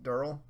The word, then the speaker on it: Daryl: Ronnie, have you ever seen how Michael Rooker insists that Daryl is pronounced Durrell?